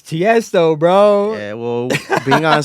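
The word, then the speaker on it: Tiësto: Tiesto, it's Tiesto, bro.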